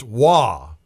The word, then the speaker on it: Roy: It's a nice save by Wah spelled Roy pronounced Wah.